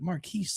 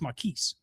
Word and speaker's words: Marquise: Like, I thought his name was Marquis for a while, but he corrected everyone. He goes, no, because it was spelled like Marquis, but he's like, no, it's Marquise.